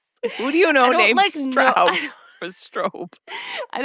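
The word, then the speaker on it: Straub: Strobe. Spell that too. Strobe. Spelled S T R A U B. Stra. Oh, Strobe.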